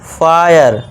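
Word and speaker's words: fire: ई का यहाँ देखिए ई साइलेंट है, यहाँ भी ई साइलेंट है, तो इसे क्या पढ़ेंगे, फायर वायर।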